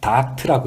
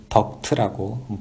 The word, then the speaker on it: 덕트: 덕트라고 하는 것은 현장에서는 우리가 닥트라고 이야기를 부르는 경우도 많이 있는데 스펠링이 DUCT이기 때문에 보통 우리가 이제 덕트라고 부르게 됩니다.